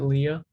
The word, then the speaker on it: lea: this address for us is called um lea you could also pronounce it leah and um it takes